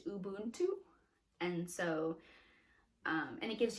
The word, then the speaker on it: Ubuntu: So this one has South Africa, and the word for South Africa is pronounced Ubuntu, and so and it gives you like how